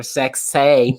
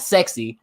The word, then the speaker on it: Sexay: Mm-hmm, all right, with Scotty 2 Hotty and Grandmaster Sexay. Remember, say it right. Say, not sexy, Sexay.